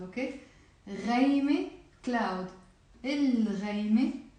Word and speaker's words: الغيمة: الغيمة, the cloud. So I am pronouncing the lam here.